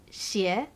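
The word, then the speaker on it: 鞋: the first is that shoes in mandarin is shi another word that sounds exactly the same is evil same tone different character so when you give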